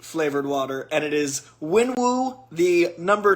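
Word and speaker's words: Wenwu: I mispronounced it, and that is unacceptable. It is lychee flavored water, and it is Winwu, the number 3 villain for me in the MCU, and lychee flavored water.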